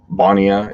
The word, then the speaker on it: Bonia: It's a Bonia is how you say it, and Bonia actually saw a 28% increase in their conversions after implementing an exit pop-up.